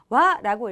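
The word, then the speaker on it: は: 그런데 지금 읽을 때는 제가 하가 아닌 와라고 읽었는데요. 이 일본어의 조사 와 같은 경우에는 무엇무엇은 이라고 할 때 바로 이 조사 이렇게 쓰일 때는 읽는 방법이 조금 다릅니다. 이렇게 와라고 하고 발음을 하면 무엇무엇은 이라고 하는 뜻으로 쓰였구나 라는 것을 알 수가 있죠. 그렇기 때문에 이 글자가 명사 뒤에 붙었을 때는 하라고 읽는 것이 아니라 조사구나 라고 파악을 하고 와라고 읽어야 한다는 것부터 이해를 해 주었으면 좋겠습니다.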